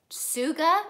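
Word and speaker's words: Tsuga: house Melissa blue Cyprus sukkah which is spelled TSU GA and RC and raven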